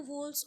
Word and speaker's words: whorl: तो जो बाहर की जो 2 वोल्स हैं, वोल्स का आपको स्पेलिंग आती है ना WHORL, वोल, है ना, जो हम 4 वोल्स की बात करें, केलिक्स, करोला, एंड्रोशियम, गाइनोशियम।